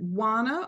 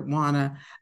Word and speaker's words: Juana: not pronounced your name for me is it wanna or how do you pronounce your name it's Juana you said it write the verse yeah okay